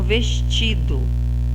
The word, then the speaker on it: vestido: Então, o ti é a sílaba mais forte. O ti é a penúltima sílaba. Sendo a penúltima sílaba, ela vai ser classificada em paroxítona.